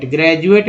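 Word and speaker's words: graduate: तो ये देखिए ग्रेजुएट में डी को ज बोला जाता है।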